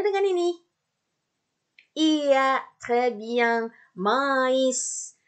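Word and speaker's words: maïs: Mais. Kenapa I-nya dibaca dan S-nya dibaca? I karena di atas I ada titik 2. Karena I-nya I trema. Maka jadi mais.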